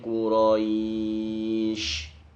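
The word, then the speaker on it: قريش: Li'ilafi Quraisy. Cara pengucapannya sya, shi, shu, bash. Terkadang anak-anak bacanya li'ilafi Quraisy pakai sin. Ini yang tidak boleh.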